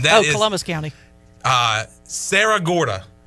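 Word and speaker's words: Cerro Gordo: was Columbus County uh Sarah Gorda but it's it's spelled c-e-r-r-o-g-o-r-d-o but I've heard people say Sarah Gorda so that's the town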